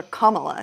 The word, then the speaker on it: Kamala: Or Kamala, excuse me.